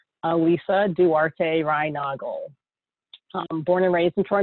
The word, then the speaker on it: Alyssa Duarte Reinagel: It's pronounced, and Sean got it right, Alyssa Duarte Reinagel.